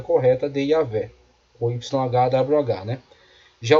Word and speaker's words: Yahvé: Então Yahvé, parece ser a pronúncia mais apropriada.